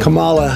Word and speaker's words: Kamala: officially pronounce her name karma kamala harris karma chameleon carton of milk no kabala harris no camel toe maybe caramel corn no like a comma like the punctuation just combine comma with law and you